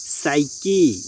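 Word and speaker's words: psyche: উদাহরণ, সাইকি, সাইকো, Saura, অর্থাৎ ফি plus S পরপর থাকলে এবং ফি এর আগে কোনো বাউল না থাকলে ফি অনুচ্চারিত থাকে।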